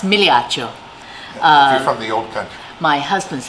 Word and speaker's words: Migliaccio: is a mouthful and it's it correctly pronounced Milioti Oh for real my